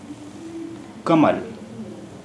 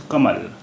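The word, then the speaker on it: कमल: Kamal. Kamal. The first letter of this word is Ka. Kamal. The word is pronounced as Kamal.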